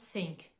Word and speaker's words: think: répéter plusieurs fois they think le TH de the il est plus prononcé on va mobiliser les cordes vocales tandis que le TH de Think il va être plus doux donc je vous répète they